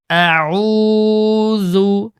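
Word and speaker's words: أَعُوذُ: আউ আউজু আউজু তারপর বালাম জের বিল লাম খালা জবর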